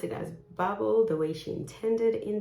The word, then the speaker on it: Babel: with the author and she pronounced this as bubble which makes sense because this is the American pronunciation of this word and she's an American